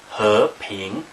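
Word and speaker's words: 和平: So in Chinese, we have these two characters here, and they're pronounced he, ping, so it's 2 second tones.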